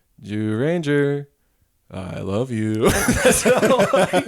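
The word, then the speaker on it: Zyuranger: Sorry, you said Jew Rangers. That's Jew It's Ranger. ZYU. It's ZY, but in Japanese it's like Jew Ranger.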